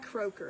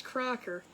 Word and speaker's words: Crocker: Crocker I keep saying is it Croaker or cracker cracker not Croaker it's Crocker Alexa stop Sherry if I